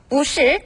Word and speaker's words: 不是: 不是 발음 뿌는 원래 사성이지만 是가 사성이기 때문에 앞에 뿌는 이성으로 발음하죠.